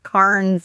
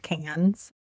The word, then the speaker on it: Cairns: I had been pronouncing it I don't know what cars and all kinds of stuff. And so then of course we arrived and they're talking about cans. So completely different spelling from that one in France.